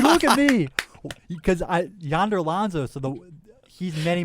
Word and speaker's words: Yonder: wait y why what y o n d like like Wonder okay am I putting